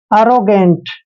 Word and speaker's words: arrogant: Next word है ARROGANT, ए का उच्चारण यहाँ पर ए करेंगे, डबल आर को हम रे लिखेंगे, ओ को ओ की मात्रा पढ़ेंगे, ऐसे हो जाएगा आरो। और देखिए जी का उच्चारण यहाँ पर गे करेंगे, क्योंकि जी के बाद जब भी ए आता है तो जी का उच्चारण गे करते हैं और ए को ए की मात्रा पढ़ते हैं, एन को आधा न और टी को टे पढ़ना है।